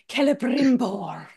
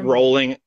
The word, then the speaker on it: Celebrimbor: That would be, let me pronounce it right, Celebrimbor. Yep. You've got to have that Celebrimbor. rolling R in there.